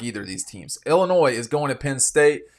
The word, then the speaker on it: Illinois: I've watched Illinois a few times. The S is silent at the end.